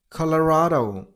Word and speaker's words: Colorado: Colorado. Colorado. Stress on the third level. I mean on the r sound Colorado number seven Connecticut